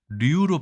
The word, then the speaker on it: 류: 47위는 유씨가 아니라 류로 발음하는 버드나무 류의 류씨였습니다.